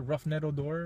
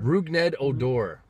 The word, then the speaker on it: Rougned Odor: Or what about like how do you pronounce that guy's name? The guy that threw a punch at Bautista last year, Roughneck Odor, or whatever. Rougned Odor.